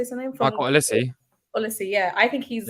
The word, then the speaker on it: Olise: Michael Olise.